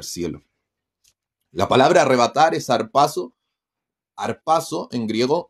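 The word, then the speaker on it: ἁρπάζω: la palabra arrebatar es harpazo harpazo en griego o jpaso que tiene una espíritu le llaman los que son eruditos griego se pronuncia como una jota suave jpaso eh que significa tomar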